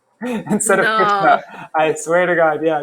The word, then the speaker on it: Krishna: In Sanskrit, you always pronounce the A at the end.